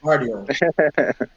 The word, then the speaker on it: Guardiola: Guardiola or Guardiola? The name's Guardiola. The G is silent. It's Guardiola.